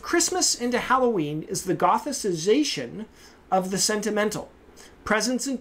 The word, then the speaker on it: gothicization: Her conclusion is that the transformation of Christmas into Halloween is the gothicization. Easy for me to say, huh? Gothicization? That's better, right? I was giving it a soft C in there.